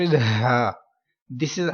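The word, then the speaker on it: ح: And next letter is ha. This is ha. This one is ha. Like this letter is pronounced with deep voice from bottom part of your throat.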